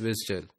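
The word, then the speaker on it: WSDL: application के दरमियान में डब्लू एसडीएल is pronounce as विजल तो हम इसे विजल सिंपली बोल सकते हैं और इसी तरह से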